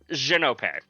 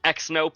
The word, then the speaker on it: Xhin: I say my name my name is pronounced xenop uh I frequently hear like xop xop xop uh one person uh one person on my Discord is notorious for pronouncing it as xnp as aod is saying